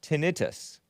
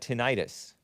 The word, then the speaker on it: tinnitus: Love soda does not like juice says it is pronounced tinnitus, not tinnitus. Itis means inflammation, which has nothing to do with ringing of the ear syndrome.